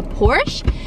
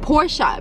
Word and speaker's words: Porsche: always thought that this car was called a porsche but then when we went we learned that it's actually pronounced porsha because i guess the owner that's his last